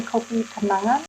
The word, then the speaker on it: Kopi Kenangan: briefly introduce this company copi kigan um to our listeners so in Indonesia we say cop kangan where kangan means something